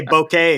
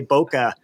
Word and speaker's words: bokeh: I actually have to train myself to say bokeh because that's the correct pronunciation I always fall in so many people say bokeh that's what and it's but then you're going